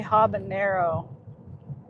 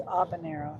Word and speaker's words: habanero: They say habanero wrong too. And then the h is silent. It's habanero, not habanero.